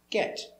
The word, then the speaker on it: get: pronunciation of get e get but we use a stop t for the t so it sounds like get you go we use